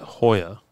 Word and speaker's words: Joya: Is it Joya or is it Hoya? It's Hoya. It's Hoya. Okay. J's are pronounced as H's.